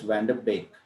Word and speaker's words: Van de Beek: So it's Van der Beek, the pronunciation.